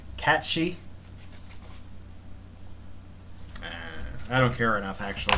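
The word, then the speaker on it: Cait Sith: so i've called them kids my whole life apparently that's irish it's catchy i don't care enough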